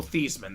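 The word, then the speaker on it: Theismann: or Joe thyman uh his name is actually pronounced Joe theeman that's his family's name uh over at Notre Dame he was fighting for the Heisman uh Notre Dame staff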